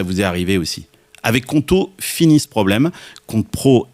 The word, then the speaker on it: Qonto: Avec Conto, fini ce problème.